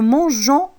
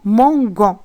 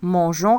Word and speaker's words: mangeons: Je mange E, tu manges ES, il mange E, nous mangeons EONS. Si on enlève le E, on va prononcer ce verbe-là, nous manguons, et c'est faux. Alors, nous mangeons avec EONS à la fin.